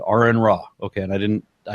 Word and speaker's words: Aron Ra: to that so as my name is Aaron pronounced such I said are in rock ok and I didn't